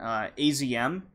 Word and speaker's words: AZM: wrestlers in the promotion, AZM, I think they pronounce it Azm in Stardom, was against the challenger for Io Shirai's white belt title, Momo Watanabe, with her partner, Konami.